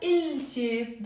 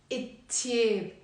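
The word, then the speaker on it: التيب: But we will pronounce it not il-tib. This l here is not pronounced, and we pronounce it it-tib.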